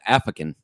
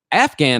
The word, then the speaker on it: Afghan: But then I found out, it's an Afghan is right. That's how you say it, right?